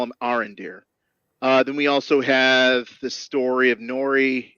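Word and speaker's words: Arondir: I don't know how to pronounce his name. Arendir. There you go. I'm gonna call him Arendir.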